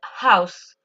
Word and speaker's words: house: Donc, pour le premier, quand je dis a house, je prononce le H. A house. D'accord? Pour prononcer le H en anglais, il faut prendre sa respiration. D'accord? A house. A horrible dream. Je ne sais pas si on entend très bien, mais pour prononcer le H en anglais, on prend tout simplement sa respiration.